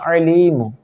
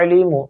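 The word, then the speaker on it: عليم: ٹھیک ہے، یا علیم، عین ایک ہوتا ہے حمزہ کے ساتھ علیم، جلدی میں نہیں پڑھنا یا علیم یا علیم، غلط ہے، یہ تلفظ بھی غلط ہے، کیوں؟ حمزہ پڑھ رہے ہیں علیم، عین حلقے درمیان والے حصے سے ادا ہوتا ہے، ٹھیک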